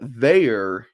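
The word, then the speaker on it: Veilleux: quarterback seems decent um Christian Veer is how you pronounce his name Veer is from Canada I believe it's a French name um and uh we watched a video where he pronounced his name so Christian veyor even though it would not look like that 64 220 pounds hasn't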